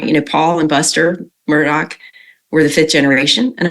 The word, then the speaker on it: Murdaugh: things that's consistent is typically he says Alec Murdoch I'm I'm just gonna